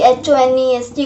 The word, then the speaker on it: honest: H is silent.